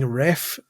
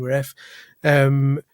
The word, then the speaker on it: Refn: Guillermo del Toro, and apparently it's Nicholas Winding Refn, which I didn't know that's how you pronounce it. I always thought it was Winding Rain, but apparently it's Nicholas Winding Refn.